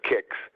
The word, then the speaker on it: CICS: my friends in kicksland were pronounce the cscs kicks the estimates are that